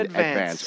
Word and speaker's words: Advance: Yeah, I have staff writer for the Staten Island Advance. Or as they say back in Staten Island, the Advance. For some reason, they put the accent on the first syllable of the word advance.